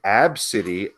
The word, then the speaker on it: Abcde: okay AB B CDE e Redford pronounced absity according to her mother